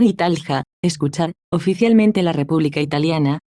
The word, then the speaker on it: Italia: Italia, en italiano, Italia, pronunciado Italja, escuchar, oficialmente la República